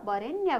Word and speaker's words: वरेण्य: ल हेर्नुहोस् त, वरेण्य वरेण्य हैन, लेख्दा हामीले ओ लेखे पनि उच्चारणमा हामीले के भनेका छौँ त, वरेण्य भनेका छौँ।